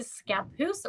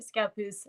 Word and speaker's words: Scappoose: And then we moved to Scappoose, Oregon, which at the time, so like 24, 25 years ago, it was super, super white.